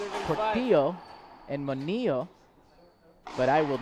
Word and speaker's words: Manilla: Little friendly reminder on how to pronounce some last names. Apparently it's Portillo and Manilla, but I will not change my Andre Pereira.